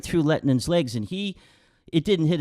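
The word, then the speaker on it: Lehtinen: How do you pronounce his name? Lettinen, yeah.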